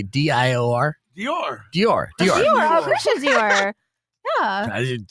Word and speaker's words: Dior: How about TR or how do you say DIOR?